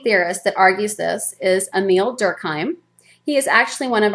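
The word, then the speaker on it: Émile Durkheim: his name is Emil sometimes people see it the spelling and think it's Emilee Durkheim and that it's a female but it's not he is a man and it's pronounced emile durkheim and he argues that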